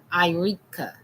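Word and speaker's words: Iriekia: Irea. The last name is spelled.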